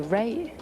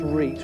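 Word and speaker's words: rete: i'm natasha um the ray i'll give you that it's pronounced reit really but i'll give you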